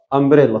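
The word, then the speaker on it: umbrella: من زمان كلمه امبريلا حرف اليو هنا سيادتك نطقته ايه ا امبريلا صوت متحرك يبقى طالما نطقت صوت متحرك هتستخدم لها ان انما اليو لو انت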